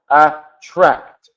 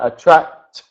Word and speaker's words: attract: on that one so attract yeah t sound at the end is is Right attract emphasize the T at the end so attract yeah that's